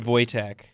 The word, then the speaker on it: Wojtek: the Polish army in World War 2 named Wojtek it spelled Waja Tech in the rulebook says a bear can't be in the army but it's pronounced Wojtek it's a cool story there's like a lot